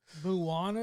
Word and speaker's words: Moana: is 10 years old Moana came out and like okay that's might be an exaggeration I think am I saying it wrong Moana Moana there's no mo like yeah it's Mo Moana Moana Moana yeah Moana